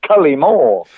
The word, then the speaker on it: Cullimore: I stress the first syllable, Cullimore, and I like the way you sort of stress the first and the third syllables.